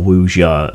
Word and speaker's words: wuxia: an rpg based around let me try and get this pronunciation right usia or wuja as some people call it chinese kung fu